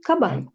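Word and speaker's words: かばん: bag any bag right it's going to be kaban no elongation right kaban so once more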